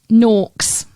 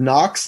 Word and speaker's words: norks: I think everybody in the U.S. just heard knocks, like knockers.